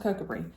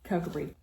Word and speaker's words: Kirkcudbright: I think it's pronounced Kirkcudbright. It's written Kirkcudbright, but I have been reassured by Scots that is not how you say it, so I think Kirkcudbright.